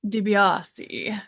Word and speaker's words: DeBeasi: Joseph and I went to Italy a few years ago, and we were corrected in our pronunciation. And it is DiBiase.